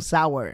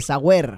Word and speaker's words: sour: errores al hacer un sour primero no se dice sour se dice y se escribe correctamente sour clara de huevo en